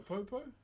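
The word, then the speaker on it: pou: So this is called a popo. P-O-U is how you spell it.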